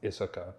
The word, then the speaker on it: Isoka: The main character, Isoka, which sounds a lot like Ahsoka. Just saying. It's actually pronounced Issoka, but sure it is.